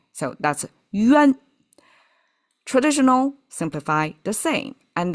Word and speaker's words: 冤: So, that's yuan.